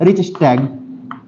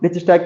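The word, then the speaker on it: Reichstag: को क्या कहते हैं इसे हम कहते हैं रिच स्टैग स्पेलिंग है आर ई आई सी एच एस टी ए जीी ठीक है जर्मनी की पार्लियामेंट को हम रिच स्टक के नाम से जानते हैं अब क्या हो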